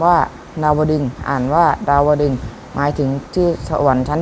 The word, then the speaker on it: ดาวดึงส์: ใจ ควร รู้ ด้วย คำ ว่า ดาวดึงส์ อ่าน ว่า ดาวดึงส์ หมาย ถึง ณ สวรรค์